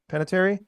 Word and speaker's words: Panettiere: kind of a weird one Jason panatieri I pronounce that right peanut Panettiere Panettiere Panettiere he uh actor and brother of